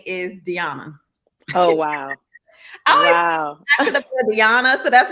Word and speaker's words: Deana: is your correct pronouncement the current pronunciation of my name is Diana okay um I answer to Deanna only because my grandmother called me Deanna okay and she you